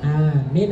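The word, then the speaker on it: آمين: kita lakukan mendapat pahala Bacanya apa Amin itu a-nya itu berapa harakat dua Ayo Amin apa amin amin mimnya ada tasdudnya apa enggak engak ada enggak tidak tidak ada tidak ada amin amin lain lagi artinya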